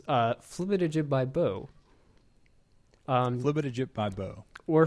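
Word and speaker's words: flibitijibibo: But the correct pronunciation, if I could pronounce that phrase correctly, is Flibbit by Bo. Flibbit by Bo. Or Flibbit.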